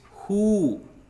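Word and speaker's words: हू: And who is pronounced like WHO in whose.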